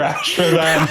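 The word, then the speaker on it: Ashravan: This character is described as having a strong face and pronounced nose. Leras. It is not Laris. Emperor Ashervan. It is Emperor Ashervan.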